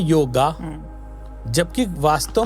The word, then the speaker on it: योग: अगर आ की मात्रा होती तो हम बार लगाते उस वो योग है योगा नहीं है।